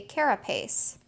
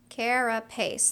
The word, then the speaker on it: carapace: covering of a turtle I'm not quite sure if I'm pronouncing that correctly but carapace three syllables I think I am